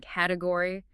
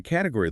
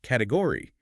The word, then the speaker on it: category: Which is why category looks like it has 4 equal syllables, category. But a native speaker completely swallows the middle.